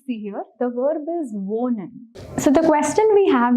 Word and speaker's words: wohnen: the pronunciation of it, this ha is pronounced very subtly. So whenever you have the sound of ha in Deutsch, the pronunciation is very subtler. We do not stress on that ha a whole lot. So it shouldn't sound like wohnen. It sounds like wohnen. It's subtle, it's smooth.